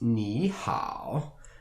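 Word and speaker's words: 你好: These characters are pronounced ni hao, and the pinyin is just below the two characters.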